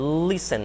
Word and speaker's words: listen: Não é listen, nem é listen, listen, o T quase não é pronunciado, tá?